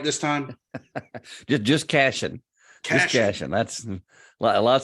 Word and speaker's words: Cashion: just Cashion.